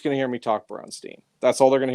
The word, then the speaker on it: Braunstein: because this word, bronze teen, and that's pronunciation bronze teen. Unless you want to do more of the Austrian Braunstein. You know, like do Haus Mick. If you want to do that, that's cool, too.